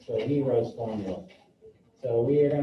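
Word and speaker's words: Heron: his name is pronounced heroes okay the n is silent so heroes formula so we are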